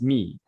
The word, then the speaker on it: my: And so a lot of words that you might recognize, like the word my is not pronounced my, it's pronounced me.